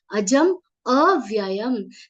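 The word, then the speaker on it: एनम् अजम् अव्ययम्: That is how some people end up pronouncing it. And when that happens, that word which is there here, the words are enam ajam avyayam. That ajam avyayam becomes ajam vyayam.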